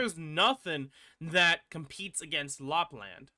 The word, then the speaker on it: Lapland: nothing that competes against Lapland La blonde whatever you like to pronounce it's like land not La blonde everyone calls a lot blonde regardless um without doubt